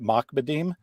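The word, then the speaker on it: מכבדים: So this is the word, which is actually properly pronounced makbadim, and I'll explain why in a second.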